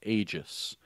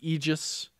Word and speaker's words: Aegis: Now, that's how the developers are pronouncing it, Aegis. Now, I did hear some military people say it's Aegis, but the developers, and I'll copy what the developers are doing, and I'll say Aegis.